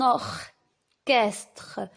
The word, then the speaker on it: orchestre: maintenant et rappelez-vous ici le ch en veulent prononcé comme un cas alors et si on va dire un orchestre un orchestre fait attention